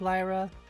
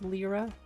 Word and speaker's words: Lyra: worked out my advantage I pronounced it lra well I like Lyra it's technically pronounced lra it's one of those